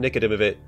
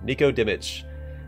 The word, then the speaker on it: Nikodimovich: But Vadim Nikodimovich. No, I'm saying it wrong. Nikodimich.